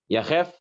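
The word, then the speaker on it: יחף: Was that yichaf or yachaf? How do you pronounce that word? Barefoot in Hebrew. Yachef she'en lehitpalel yachef el v'tet ba'av yom kippur.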